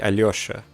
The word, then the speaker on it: Alyosha: It's supposed to be Alyosha, but there's no le sound in English. So you just lose out on that le.